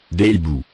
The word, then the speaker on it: hiboux: Des hiboux.